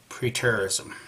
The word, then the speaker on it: preterism: in the word and there's a couple of different pronunciations one of them's real strong young one's not but for the sake of argument pre-terrorism okay in a nutshell